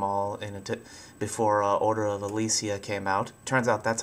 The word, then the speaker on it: Ecclesia: play through them all in before Order of Alicia came out. Turns out that's how you pronounce it.